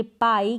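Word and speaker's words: pie: जैसे इसको पी नहीं पढ़ सकते। इसको पढ़ेंगे पाई।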